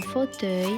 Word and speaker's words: fauteuil: Faux, comme dans fauve et faute, teuil, comme dans accueil.